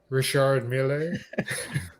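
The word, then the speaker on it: Richard Mille: up uh good uh good brand here to pronounce richard richard miele that's it that's what i heard i actually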